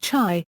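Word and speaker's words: חי: Hebrew alphabet, Chet and Yod, forming the word Chai, meaning alive, or living. The most common spelling in Latin script is Chai, but the word is occasionally also spelled Hi.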